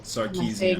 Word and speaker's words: Sarkeesian: We're going to start off with our Anita Sarkeesian? Sarkeesian. Yeah, I think that's what- Sarkeesian. Sarkeesian. Oh, so I did say it right.